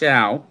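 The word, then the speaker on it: Show: Now, his name, it says Schau, but his name is pronounced Schau.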